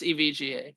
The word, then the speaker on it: EVGA: say that name again every EVGA it's just EVGA EVGA hopefully they'll find somebody better to treat